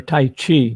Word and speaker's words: taiji: of as martial arts taiji or tai chi depending on how you want to pronounce it he says taijia he's from china i'll take taiji but qigong and and